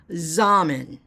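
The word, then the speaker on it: Xaman: to my Zan account it's X am M and I believe that's how you pronounce it zmen so that works even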